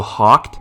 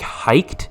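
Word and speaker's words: Hoecht: Floyd, 11 from Michael Hawkt. Is that how you say his name, or is it like hiked? I've heard it pronounced hiked, but that sounds stupid, so I'm gonna say Hawkt.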